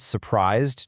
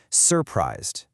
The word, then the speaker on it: surprised: We don't say surprised. Our dictionaries dictate that the lexical stress is on the second syllable. So when our brain decides to emphasize the word, our acoustic hardware automatically makes that second syllable louder, longer, and higher pitched.